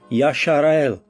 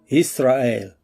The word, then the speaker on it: Yisra'el: Stop saying Yashar'el and call the people and the land by the name that Yahweh gave it in the Hebrew tongue, Yisra'el.